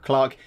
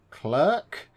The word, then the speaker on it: clerk: don't know why but America apparently it's pronounced with a long e so its clerk clerk click clerk clerk I suppose captain clerk so yeah it's clerk stock clerk but we'd say stock clerk in the UK which was mature made